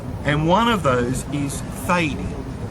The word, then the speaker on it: Thady: There are so many variations for the name Teague or Tade, and one of those is Thady, T-H-A-D-Y, not Tade as it appeared on the Bristol records. And apparently Thady is very common in Cork.